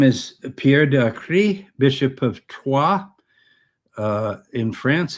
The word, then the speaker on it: Troyes: of the district of Troyes. Americans pronounce it Troy."